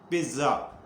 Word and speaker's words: pizza: کا لفظ ہے پیزا، لیکن اٹالین اسے پیزا نہیں پڑھتے نہ بولتے ہیں، لکھتے ایسے ہی ہیں، سپیلنگ یہی ہے PIZZA، لیکن یہ اٹالین گرامر کا اصول یہ ہے کہ جہاں پہ ڈبل زیڈ آ جائے اس سے پہلے ہلکا سا ٹی کا ٹچ دیا جاتا ہے، بولنے میں ہلکا سا